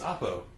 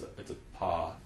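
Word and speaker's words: ἀπό: It's Oppo. I'm like, it's a paw actually. Pa. And he's like, whatever. They don't care. I'm gonna just tell them a po. All right. They won't care. I was like, forget being technical. Anyways, a pa, not a po.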